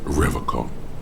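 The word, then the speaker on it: Revachol: He pronounces Revacol with a hard K, unlike other people. I like to pronounce it the hard way, the old way, the Vespertine way.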